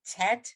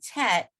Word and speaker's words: tet: to spot set but it's a short e obviously you know that but it's